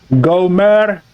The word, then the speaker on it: Gomer: It's pronounced Gomer. The R, you roll the R, Gomer.